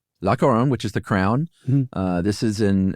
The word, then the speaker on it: La Couronne: Uh, how do you pronounce that, Josh? La Couronne. La Couronne, which is the crown.